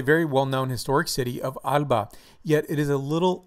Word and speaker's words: Alba: 17 Acres the name of this Doc is Alba Alba Alba thank you for coming by I appreciate it